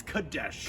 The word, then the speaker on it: Kadesh: name wrong just remember it kinda sounds like croquet right not cadet not croquet but it is kadesh good dash all right